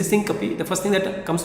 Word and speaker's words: syncope: one more important topic which is syncopy or in other words you can also pronounce it as synop synop or Syncopy that is the topic